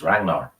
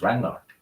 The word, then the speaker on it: Ragnar: Uh, Fun fact: when you pronounce it, you're supposed to swap the G and the N. So it's Ragnar.